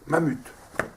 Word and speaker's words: MAM: première pas photo ver MAM m MAM j'ai tout couvert ça c'est une super marque c'est comme ça qu'on prononce non pas mamouth Nike monsieur Rollet qui